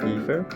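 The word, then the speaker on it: Aether: I'm Ether?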